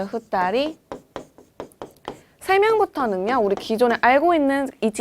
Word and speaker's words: 二人: 이 세는 단위는요. 예외로 외우셔야 되는 파트인데요. 1명은 일본어로 어떻게 될까요? 그쵸, 히토리라고 읽고요. 2명은요. 그쵸, 후따리.